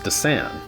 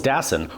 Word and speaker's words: Dassin: and Greek film industries led many to believe that his name was pronounced Dassin, which is how I thought it was pronounced all throughout college.